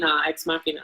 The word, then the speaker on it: Ex Machina: Yeah, especially after watching Ex Machina. Is that how you pronounce it? Yeah, Ex Machina.